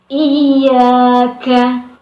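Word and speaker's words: إياك: Yang benar adalah dengan mentasydidkan huruf iya tersebut, iyyaka, seperti itu.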